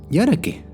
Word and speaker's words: Y ahora qué: de Y ahora qué la pronunciación correcta de Y ahora qué sería Y ahora qué O sea se tiene que hacer énfasis en la pregunta de Y ahora qué